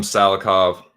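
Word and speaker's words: Salikhov: And Muslim Salihov, as they like to say. I don't know why his K is pronounced silently and no one else's is, but that's how they do.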